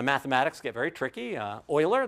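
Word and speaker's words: Euler: Uh Oiler, that's how that's pronounced, uh does a lot of that early work.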